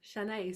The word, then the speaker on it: Shanay: But it's said as it's written, Shanae, so you got it perfect. Shanae.